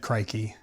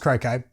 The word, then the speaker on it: Kriki: And I would have been horribly skewered on the internet had that happened. Shout out to somebody on Twitter for telling me how to spell that. Or rather, for somebody asking Delilah S. Dawson a question on Twitter and me assuming that that's the correct spelling. But it's pronounced Kriki.